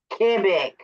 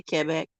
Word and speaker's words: Québec: Quebec, because I say Quebec because that's how we were taught growing up. Quebec. Well, you're not saying it wrong. You're just saying it in the English. En français, En français, c'est Québec.